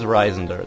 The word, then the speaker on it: Reisender: And yes, that is Reisender.